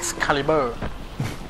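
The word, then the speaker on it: Excalibur: เ อ่าน กัน จริง ๆ ก็ อ่าน ว่า xcaliber ก็ ไม่ รู้ ว่า ยัง ไง อ่ะ นะ ก็ เรียก ว่า ex caliber แล้ว กัน คน เขา เรียก กัน เรา ก็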